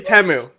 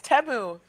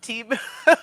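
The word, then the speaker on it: Temu: It's actually Teu, by the way. Yeah. Would you believe it? They told me that how to pronounce their name based on the commercial. It's Teu, dude. People have been calling it Tu.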